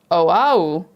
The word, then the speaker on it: Oahu: And Stefan says, G, Oahu is the name of the island.